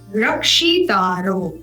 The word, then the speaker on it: रक्षिता: तद उपरांत अंत में रक्षी तारो य हाईलाइट कर रहे हैं र क्ष जो क्ष है ये उच्चारण होगा क और मूर्धन्य ष के सायुज्य से तो बनेगा श रक्षिता